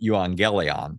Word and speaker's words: euangelion: The Greek term euangelion, which we usually say we pronounce as evangel.